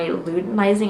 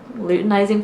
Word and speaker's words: luteinizing: test strip measuring my luminizing I think is how you say it luteinizing hormone that is how I confirmed